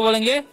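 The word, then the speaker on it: blow: हम क्या पढ़ते हैं इसे हम लोग पढ़ते हैं ब्लो ब्लाउ नहीं पढ़ना है ठीक है ओ डब्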